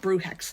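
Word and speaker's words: Brujex: are U JX uh so you're not saying bruo or bruha you're it's it's a a non non-gender word bruex anyway basically bruo means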